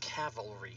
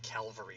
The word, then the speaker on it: cavalry: a a Griffin Calvary it's pronounced cavalry not Calvary like I've set up my whole life hey Griffin cavalry rider